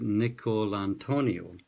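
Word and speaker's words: DiNicolantonio: pronounce his name right Nick call Antonia so James nickel and to--a Otoniel speak like an Italian to get that right he's saying how we're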